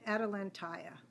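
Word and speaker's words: Atalantaya: the end is Like Jambalaya it's that same type of pronunciation adalanta I love that it's like jumbalaya you said that that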